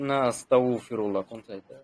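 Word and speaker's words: أستغفر الله: হবে আস্তাগফিরুল্লা আস্তাগফিরুল্লাহ এটা গনের উচ্চারণ তো আস্তাগ মানে কলকলা করা যাবে না কলকলা করলে আবার এটা কারণ গন তো কলকলা হরফ না কুতুব না আপনি যতটুকু শুদ্ধভাবে গনের উচ্চারণ করতে পারেন আস্তাগফিরুল্লাহ যতটুক শুদ্ধভাবে উচ্চারণ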